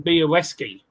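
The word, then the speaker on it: Białecki: It's the L with that line. It's pronounced W. So, it's Sebastian Boweski.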